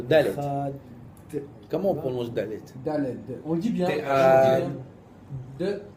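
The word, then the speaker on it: דלת: Après les sfaradim, le dalet, il se termine avec un point de Z. Voilà, une noisette de zaïn à la fin. Chad. Avec la langue sur les dents.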